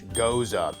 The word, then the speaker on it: Gose: This is our interpretation of Gose, pronounced G-O-E-S-U-H, Gose.